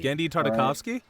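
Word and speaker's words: Genndy Tartakovsky: right and i had the entire gendry uh tavarsky however you say his name and did samurai jack i have his whole clone wars on dvd dandy tartakovsky yeah that's how you say it um yeah you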